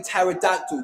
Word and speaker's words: pterodactyl: So, when you say pterodactyl, do you put a P in it? Do you even pronounce it? Some are silent, so that's a difference.